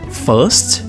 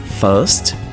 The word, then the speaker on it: first: inglês britânico e americano inglês britânico first first inglês americano first first com a pronúncia forte do R tá então first britânico